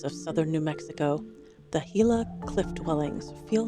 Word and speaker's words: Gila: Like pronouncing it Gila and not Gila.